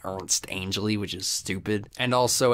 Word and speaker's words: Ernest Angley: I say Ernest Angley because that's how it's spelled, but he pronounces it Ernst Angley, which is stupid.